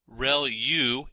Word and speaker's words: ReLU: There are multiple hidden layers like convolution layer relu is how that is pronounced and that's the rectified linear unit that has to do with the activation function that's used.